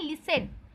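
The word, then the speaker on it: listen: लिसन मतलब होता है, देखिए LIS लिस्ट TN 10 लिस्टन लिखा है, पर इसे पढ़ते हैं लिसन। टी का साउंड वो हो जाता है, साइलेंट हो जाता है।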